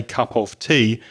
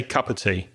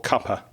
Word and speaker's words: cup of tea: cup of tea and notice the pronunciation British people wouldn't normally say cup of tea we'd say cup of tea or cuper cup of tea have a nice